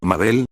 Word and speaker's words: Mabel: My name's Mabel. It rhymes with Table, it also rhymes with Glabé.